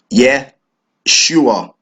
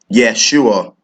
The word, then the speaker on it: Yeshua: in English in the Hebrew tongue it is pronounced as yeah sure that salvation Yeshua and yet she was being translated into the